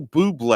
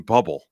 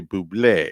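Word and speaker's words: Bublé: and powerful michael buble a lot of people say his name bubble yeah don't know why when you see it that's what you're seeing at first but yeah blue but the accent is over the east so you should say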